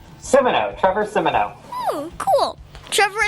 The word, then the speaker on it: Simoneau: Trevor how do you say your last name Simo Trevor Simo oh cool Trevor is a business